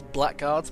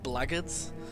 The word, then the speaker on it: Blackguards: I originally thought it was Blackguards, but apparently it's pronounced Blackguards, which I guess that makes a bit more sense than Blackguards, but anyway, this is